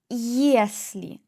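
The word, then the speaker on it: если: For example yolka yolka ye plus o yolka for tree yesli ye plus e yesli if yad yad ye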